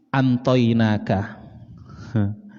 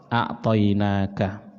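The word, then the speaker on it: أعطيناك: Kita membacanya a'taina, inna, sesungguhnya kami Allah, a'taina, akan memberi kepadamu. Ada ulama yang bacanya beda, Pak. Ada ulama bacanya begini, antoinaka. Ada yang baca antoinaka. artinya beda. Ya bin nun. Ini Qara al-Hasan wa ibnu Mahis wa Talha az-Za'farani. Ada bahasa Arab mereka bacanya antoinaka. Kita jelas bacanya a'toinaka.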